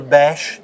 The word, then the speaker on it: BASHH: just Google BASH. It's spelled BASHH.